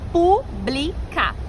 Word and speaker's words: pública: E eu pronuncio pública. Então recebe acento por quê? Porque a antepenúltima sílaba é a tônica.